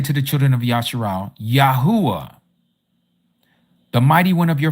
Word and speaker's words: Yahuah: A A, this letter here and this letter here make the same sound. Ya U a. Yahuah.